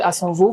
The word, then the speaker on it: Assanvoh: Je parle bien sûr de Asanvo, fondateur de Aokai Group, je prononce bien.